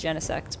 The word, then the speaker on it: Genesect: Apparently the proper pronunciation is Genesect, but anyway.